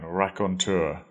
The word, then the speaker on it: raconteur: word Ron and made it into a noun rakontur person who tells stories or anecdotes in a